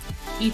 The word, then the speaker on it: y: the sky, el cielo, y tu boca, and your mouth. So E in Spanish, the letter Y is pronounced as the letter E in English.